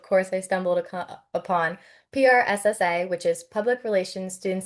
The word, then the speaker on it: PRSSA: And I also know you're a treasurer of is it pronounced pressa or prssa? P RSSA.